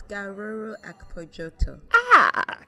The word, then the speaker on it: Gharoro-Akpojotor: of myself being a Nigerian and I can't pronounce it. It's Gharoro. It's Gharor-Akpojotor.